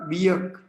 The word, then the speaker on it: योग: वियोग एक्चुअली हमें स उल्टा उच्चारण करते है वो जोग नहीं है यो योग बंगाली तोन करते है जोग हिंदी भी जोग को जोग बोलते है व जोग योग योग ब योग और ब नहीं तो योग जोग योग वियोग और योग तो बंगाली इस तरह जग बोलते है जोग तो विजग होना चाहिए जोग विजग नहीं तो वियोग जो है वो सही उच्चारण है विजग योग तो य